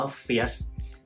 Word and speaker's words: First: แล้ว เนี่ย ปรากฏ ว่า อีก คำ ว่า First f i r s t มัน ไม่ ใช่ ภาษา อังกฤษ ครับ ทุก คน มัน เป็น ภาษา เยอรมัน ซึ่ง เขา อ่าน ว่า เฟียส ซึ่ง มัน ที่ มัน